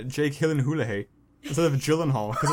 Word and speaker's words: Gyllenhaal: why, but that's why I say like Jake Gyllenhaal instead of Gyllenhaal, because it's like some like YouTube video where they're talking to him and like, how do you pronounce your name? He's like, oh, it's Gyllenhaal.